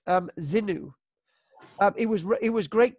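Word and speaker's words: Xingu: as well the next one this is actually pronounced um zinu it was it was great today at the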